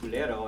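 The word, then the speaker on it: kulero: a spoon, which is culero in Esperanto, and culero, I thought, oh well, that rhymes with espero, which is hope.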